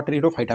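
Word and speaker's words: Pteridophyta: तो जो फंस आता है दोस्तों पौधा के, वह ट्रीडोफाइटा में आता है, ट्रीडोफाइटा में, जिसका दोस्तों पी आपका साइलेंट रहता है।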